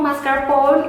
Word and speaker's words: mascarpone: Jadi cara yang betul membacanya adalah mascarpone, bukan mascarpone, bukan, it's not mascarpone. No, of course no. Okay, so it's mascarpone.